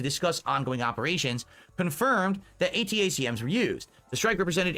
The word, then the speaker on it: ATACMS: right now that key and this how you pronounce it um known as atacms for Army tactical missing system American official and